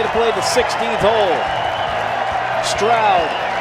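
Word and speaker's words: Stroud: Straoud rhymes with loud.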